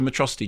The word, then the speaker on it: Metro City: This is a day you and Metrocity shall not soon forget. It's pronounced Metro City.